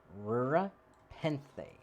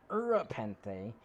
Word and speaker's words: Rura Penthe: concept either it's like it's rura penthe not urapente and especially not when